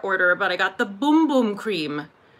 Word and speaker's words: Bum Bum: but I got the boom boom cream because that's how you say it it's not bum bum it's boom boom from Sol de Janeiro